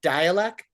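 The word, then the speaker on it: Dälek: Dalek, but with the umlaut, apparently it's pronounced dialect, like dialect.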